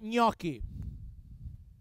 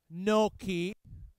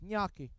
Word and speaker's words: gnocchi: right foreign is not no key it's not when in Italy you have a g and you have an n the sound is I think is that's